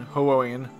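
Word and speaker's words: Hououin: other than hu then hoeyan too as long as they are ser i keep i keep pronouncing that wrong it's ho oh and ho owen too as long as they're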